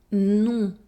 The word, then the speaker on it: non: Remember to nasalize the sound on and not to pronounce the N or M. Non.